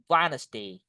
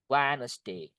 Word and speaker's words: Wednesday: The correct one is Wednesday. Wednesday. Wednesday.